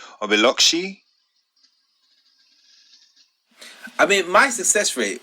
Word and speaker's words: Biloxi: i think we've got i don't have to pronounce this x's always throw me so is either biloxi or biloxi i mean my success rate with these things